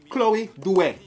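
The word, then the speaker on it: Chloe Doute: at the number one item which I call Chloe Det that's how she pronounce her name C H L O E the D O U T E.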